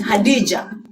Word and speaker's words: Khadija: Maybe you have heard about Khadija. Some people pronounce it as Hadija, the wife of the Prophet.